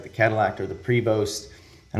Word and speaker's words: Prevost: It's like the Cadillac or the Prevost, and I'm gonna say Prevost instead of Prevo because I think you have to own a Prevost to say it like Prevo, right?